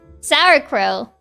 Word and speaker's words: sauerkraut: Sauerkraut.